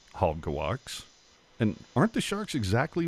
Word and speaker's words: Halbegewachs: Well, I talked with some people who talked to some people, and it's exactly as the shirt says. It's Halbegewachs. 3 syllables.